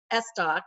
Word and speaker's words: Estok: And I met Sandra Estok. Is that the correct pronunciation, Sandra?